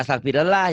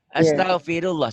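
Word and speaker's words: أستغفر الله: Jangan astagfirullah ya, Maci. Astaghfirullah.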